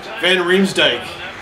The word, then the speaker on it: van Riemsdyk: Van Rims Dyke.